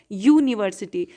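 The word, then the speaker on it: university: Pronunciation में जब आप बोलते हैं यू तो ये यू क्या है, यू. अरे यार अलावा याद है ना व्यंजन वर्ण का, तो वही तो है, य से होता है यू. य में लग गई बड़ी यू की मात्रा तो यू. तो वही प्रोनाउंसिएशन के टाइम पे आपका निकलता है यूनिवर्सिटी में यूनिवर्सिटी. तो इसलिए इसके पहले ए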